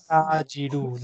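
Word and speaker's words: التاجر: At-ta'ajiru. Lam is silent. Ta is shamsiru.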